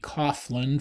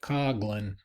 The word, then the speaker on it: Coughlin: It looks like it would be Coughlin from the way he spelled it, but he actually pronounced it Coughlin. Coughlin was priest at a large Catholic church outside Detroit.